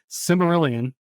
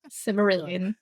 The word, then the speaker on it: Silmarillion: I've never read the Cimmerillion, right? I think it sounds right. Silmarillion.